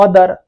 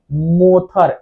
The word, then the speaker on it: mother: मोथर, MOTHER, क्या होगा? मोथर, मोथर पढ़ाएगा ना, बट है क्या? मदर।